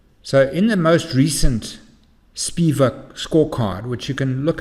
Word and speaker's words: SPIVA: The third thing I'd like to draw your attention to under this general category is something called the SPIVA scorecard. SPIVA is spelled S-P-I-V-A.